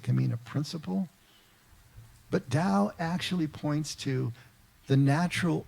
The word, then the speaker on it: Tao: Dao itself which is spelled t-a-o but pronounced Dao means the way and